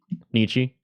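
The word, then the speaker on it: Nietzsche: What about Niche Nico? Is that how you pronounce it? Nichi. Um, it's Nich. Uh, Tony Jr. Soprano would say it.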